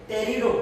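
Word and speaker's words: Pterido: Okay, P इज a silent, टेरिडो इसका pronunciation टेरिडो है।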